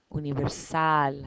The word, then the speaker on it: universal: I don't say universal, universal, universal. I say universal. I put the stress in the sal, the last syllable.